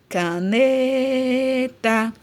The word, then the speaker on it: caneta: Na palavra caneta, caneta. Então, aqui, ó, o ne eu demorei mais falando. Então, é a minha sílaba tônica.